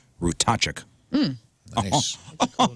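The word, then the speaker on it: Ratajczyk: a t a j c z y k rachuk nice a cool name oh yeah you impressed I am somebody wrote it out phonetically for me by the way thank you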